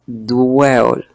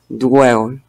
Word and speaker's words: dwell: Es la combinación de la D y la W. Están sonando las dos consonantes. Esta, recordemos que se pronuncia W, W. No es WA con la U y la A, no. Esa es una aproximación que nos dan a los hispanos, porque el sonido wah de la W no existe en español.